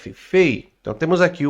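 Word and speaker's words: פ: O P e sem o ponto você lê como Fei.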